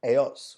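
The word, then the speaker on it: ellos: एयोस। वापस से double L को हम लोग कैसे प्रोनाउंस करेंगे? वाई जैसे। तो क्या बोलेंगे? एयोस या एयास।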